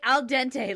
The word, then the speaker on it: dentate: I used that to remember how to say it. Because the first time the guy said it, I heard al dente. That's what I heard when you said it.